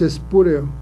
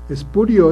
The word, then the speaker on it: espurio: Por ejemplo, se dice, el cargo que ocupa es espúreo. Y no, lo correcto, aunque parezca raro, es espurio, es lo correcto, ¿sí?